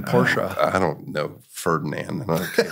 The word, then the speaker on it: Porsche: I can do it Ferdinand porsa who created the company that's how he pronounced his name porsa I don't know Ferdinand